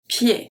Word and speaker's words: pied: So ed in this case is pronounced e, pied.